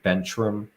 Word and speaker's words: Bentrim: It's Bentrim. I tell people to remember my last name as if you were riding a bike and you hit the curb and you bent the rim.